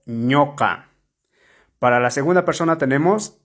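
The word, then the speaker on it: ñuqa: para la primera persona ñoca ñoca se escribe con la vocal u pero se pronuncia con la vocal o ñoca para la segunda persona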